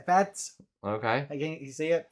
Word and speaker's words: Pfaadt: Brandon Fat. I think it's Fats.